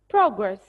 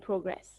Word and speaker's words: progress: okay progress and progress progress can be an oun and can be a verb having the same spelling but it the are pronounced differently so if it's a noun I'll say it as huh take care I'll say it as progress so progress the verb is progress the verb is progress